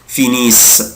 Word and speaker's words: finissent: طبعا ils finissent. أنا قلت لك مش بنطق ال ENT.